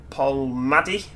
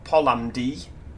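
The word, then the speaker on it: Polmadie: category air fault at pol madi or polamdi as it's spelt on this uh you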